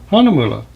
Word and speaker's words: Hahnemühle: what it looks like Hana moolah rhymes with yuo fula anyway I'm going to